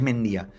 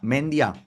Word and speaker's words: Mendía: apellido vasco, o sea, mi apellido es vasco, es mendía y que un comentarista diga, mendia, Es, hombre, no puedes no mínimamente no no poner en Google cómo se pronuncia este apellido.